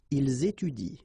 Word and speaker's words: ils étudient: exactly the same rule because you don't pronounce this and then even if it's at the plural form, so and t, well, you don't pronounce it, so you will get ils étudient, all right? Ils étudient. You don't pronounce that, and it will be exactly the same thing as we had previously. Elle joue, okay?